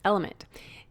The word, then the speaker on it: LMNT: our sponsors lmnt element it's spelled lmnt but pronounced element if you haven't heard